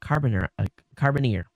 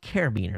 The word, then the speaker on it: carabiner: this it's a key that's got a a carbon carbon ear I guess that's how you pronounce it and basically it's just like you